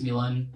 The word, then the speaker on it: Milan: the order and I was like yeah it's Milan um it's spelled m i l a n if that